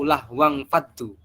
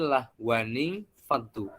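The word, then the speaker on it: لهوا انفضوا: Wa idza ra'au tijaratan aw lahwang faddu. Padahal cara membacanya bukan lahwang, tapi lahwaning faddu. Harus ada nun yang dikasihkan di situ.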